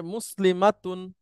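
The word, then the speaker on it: مسلمات: good এটার মহিলাবাচক হচ্ছে মুসলিমাতুন বলেন মুসলিমাতুন কোন টান নাই বলার সময় খুব লক্ষ্য করে বলতে হবে কারণ টান হলেই অন্য একটা ব্যাপার ঘটে যাবে হ্যাঁ আবার বলেন আমি একবচন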